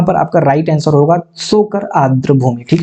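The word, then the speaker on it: Tso Kar: तो यहाँ पर आपका राइट आंसर होगा सोकर आर्द्र भूमि। ठीक है, सोकर आर्द्र भूमिता यहाँ पर साइलेंट हो जाएगा।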